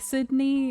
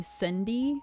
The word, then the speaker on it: Sydney: it's not that hard like Sydney is of it's not that bad and but like people would accidentally call me Cindy instead and it made